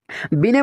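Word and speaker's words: Binet: हम चौथा और लास्ट एक डेफिनेशन देखते हैं, बिने। इंग्लिश में इसको बिनेट लिखा गया है, यहाँ पे टी साइलेंट है तो इसको बिने पढ़ा जाता है।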